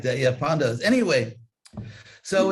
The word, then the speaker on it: Pandavas: In Ukrainian, is it like Polish where you always accent the second to last syllable, Pandavas?